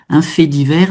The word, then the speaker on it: fait divers: Et là, quand on dit un fait divers, un fait, là, on prononce pas le T.